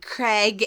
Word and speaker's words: Craig: come you pronounce Craig how come you pronounce Craig Craig and Rain differently Craig rain Craig rain CRA well I say it rhymes with rain yeah garage to me